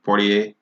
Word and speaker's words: Poirier: Is that how you pronounce his last name? Poirier. That right there.